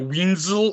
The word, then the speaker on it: Wenzel: Did I say your last name right? Wenzel? Is that how you say it? Yep. Actually, I'm surprised you got it right.